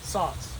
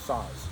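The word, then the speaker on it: Saaz: s-a-e-z pops in there sauce sauce sauce i've seen them so you saw it no it rhymes with bras oh saws saws and bras not sads and brass i don't think it's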